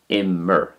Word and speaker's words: Imir: Because it's a two-syllable word, as in Imir, two syllables, it has a different ending to the one-syllable verbs.